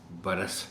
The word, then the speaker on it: برس: کرم آج اتنا برس، دیکھیے یہ چاہے برس سال کے معنی میں ہو چاہے بارش کے معنی میں، تو تلفظ اس کا برس ہے۔ انتظار، اس لفظ